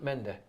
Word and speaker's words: Mendy: But Mengi for the cameras. Oh, sorry, yeah. What did you call him? What did you call him? Mendy. Oh, there you go. Got it right that time.